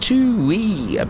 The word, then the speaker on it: Tui: marking the chat saying it's pronounced two wee best new zealander beer